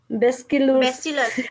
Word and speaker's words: bacillus: Bacillus.